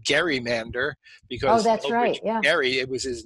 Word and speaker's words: gerrymander: it is so I I insist on saying gerrymander because marry it was his name but a lot of people will solutely insist on saying gerrymander even though it's ridiculous and if you look